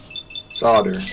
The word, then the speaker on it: solder: Solder, yeah. Oh, I mean solder. Oh, wait. The L is silent.